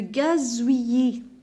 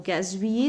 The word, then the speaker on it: gazouillis: Alors, la bouilloire, le gazouillis, le gazouillis. Alors, gazouillis, donc, ici, je prononce deux L comme la lettre Y. Gazouillis, voilà. Et je ne prononce pas la lettre S.